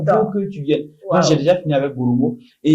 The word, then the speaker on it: Boromo: On dit Boromo, pas Boromo. Non, c'est accéléré. Tu sais, le Parisien n'a pas ce temps.